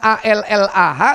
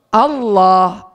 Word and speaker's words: Allah: Makanya anak TK kita meskipun tulisannya A-L-L-A-H tetap bacanya apa? Allah. Ya kan? Tidak mungkin Allah. Tapi kalau Nasroninya itu dari Timur Tengah, insya Allah tetap sama seperti kita.